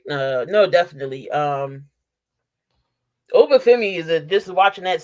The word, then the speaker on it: Obafemi: But a wild card maybe Oba Fett. Did Who I is say it? did I say his name right? Shoot, NXT, the North American champion. Oh, Obafemi.